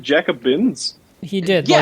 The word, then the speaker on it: Jacobins: I just Chris, jumped- I'm sending you back in time to be executed by the Jacobites. Jacobins. Jacobins? Jacobins. It's Jacobin? I've been saying it wrong this entire time.